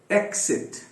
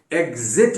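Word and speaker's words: exit: और एक्सिट, एक्सिट, हाँ, एग्जिट भी सही है, एक्सिट भी सही है, एग्जिट भी सही है।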